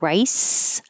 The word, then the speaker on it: rice: And rice looks like a C, sounds like an S.